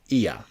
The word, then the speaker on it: Oia: So, and yes, we've had to learn to pronounce OIA, and the consensus is that it is Ia.